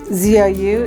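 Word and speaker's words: ぞう: quilts this is called zo zo the elephant zou is how you say elephant in Japanese and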